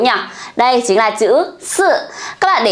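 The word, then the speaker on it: 四: Các bạn để ý cho cô nhá, số 4 mình sẽ đọc là sư.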